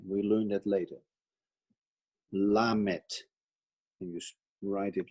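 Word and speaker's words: lamed: half triangle over there but that is for pronunciation we learned that later la met and you write it like l m e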